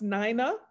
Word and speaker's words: Nina: show a picture of and her name is pronounced Nina n-i-n-a Gomer Du Bois because she's so rarely